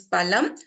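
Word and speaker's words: पलम्: But if I replace this pa with pa, which is pronounced with less effort, it becomes palam, which means meat.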